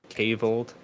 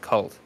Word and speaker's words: kvlt: it like kvlt or is it like cold I don't know um we'll say yes to both can't be wrong yes to both but anyway um that's a name I'm not super familiar with I have seen I have seen the name oh it's pronounced cult okay uh that's good to